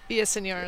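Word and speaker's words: Villaseñor: Did I do that one right? Villasenor. Yeah, right. I even, I didn't roll my R's, though. I'm not good at that. Are you going to roll your R's? No, okay, no rolling R's here tonight.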